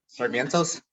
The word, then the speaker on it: Sarmiento: So Coronabounce guys, Bryan Sarmiento, how do you say your last name? Sarmientos? Sarmientos. All right, I was close.